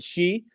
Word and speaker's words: Xi: And Donald Trump had to go and talk to President Xi. I believe that's how you say his name, XI, President Xi.